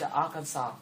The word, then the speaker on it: Arkansas: how about this one there is no s at the end so it's Arkansas and this one has